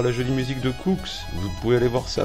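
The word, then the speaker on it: Koox: Allez, bye Cooks, ça s'écrit K-O-O-X.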